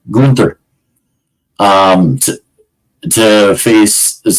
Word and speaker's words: Gunther: going to go see Gunther or Gunther sorry I say it right Gunther uh to to face